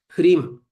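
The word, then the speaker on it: ह्रीं: Hrim. The syllable Hrim is a composite sound. It's a composite sound created by Ha, Ra, Im.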